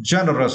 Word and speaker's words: generous: Okay, and for the next word, generous, right? For this word, you need to stress the first syllable.